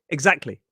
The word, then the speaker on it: exactly: Maybe I could just get rid of that T sound and make it exactly. Exactly. If you are trying to pronounce the T in exactly, you're going to struggle.